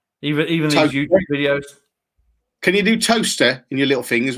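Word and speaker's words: Towcester: even can you do toaster in your little thing as well because linda's going toaster for toaster i'm going toaster okay is that is that how it's spelt that's t-o-w-c-e-s-t-e-r test says you're near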